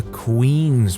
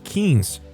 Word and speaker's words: quince: "It's just a queen's party. This is homecoming, and the crown's at stake." I say, "It's pronounced quince. Quinceañera," I said, very irritated.